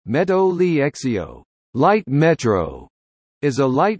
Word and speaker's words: Metro Ligero: The Metro Ligero, Spanish pronunciation, Meto Liexio, light metro, is a light rail system in Madrid, Spain.